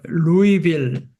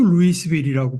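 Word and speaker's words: Louisville: 그 루이 14세인가 그러니까 프랑스어에서는 그 S자가 묵음이 되니까 그것도 스펠링은 같지만 아 그래서 루이빌 S가 묵음이라서 그 프랑스 왕의 이름을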